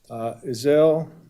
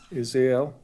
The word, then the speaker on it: Izel: Izel. How do you say it? Izael.